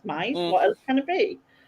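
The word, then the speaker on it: Mys: It's Mize because it's M-Y-S, Mize.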